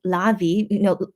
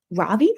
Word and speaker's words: Ravi: Yesterday, they had Midnight Idol with Lavi, Ravi, yeah, sorry.